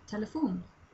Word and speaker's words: telefon: A phone would be telefon. So it's telephone, except pronounced differently, written a bit differently. Telefon. That's how we pronounce it.